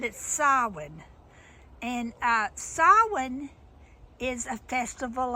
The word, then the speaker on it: Samhain: It's spelled Samhain, so it looks like it's Samhain, but it's Samhain.